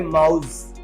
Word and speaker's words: mouse: ना तो आप इसे जा कह सकते हैं, ना तो इसे स्वतंत्र अवस्था में सा कह सकते हैं। सा और जा के बीच में कहना पड़ेगा, तो हम लोग प्रोनाउंसिएट करेंगे माउस।